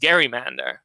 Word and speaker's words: gerrymander: It was also the case that it was originally pronounced Gerrymander, as you might suggest from this portmanteau of the last name of Governor Gerry and the salamander that this district was said to resemble.